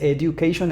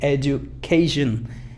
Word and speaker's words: education: y dicen education, education, pero no es education, es y luego you, fíjate, education, education, hay como un sonido como education, education, education. Aquí está la sílaba fuerte donde debes de levantar.